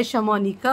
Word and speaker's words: Shamounika: जो व्लॉग्स बनाते हैं, शमोनिका, अब उन्हें बड़ा अजीब सा ये लोग प्रोनाउंस करते हैं, शमूना।